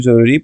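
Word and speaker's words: zero: numbers number শিখা অবশ্যই জরুরি প্রত্যেকটা মানে কাস্টমার এটেন্ড করতে কাস্টমারকে দাম বলতে আপনার নাম্বার জানা থাকা লাগবেই তো ওকে শুরু করি নাম্বারস জিরো হচ্ছে জিরো সেইম ভাবে লেখে জাস্ট উচ্চারণ একটু ডিফারেন্ট জেরু ওয়ান হচ্ছে উম অথবা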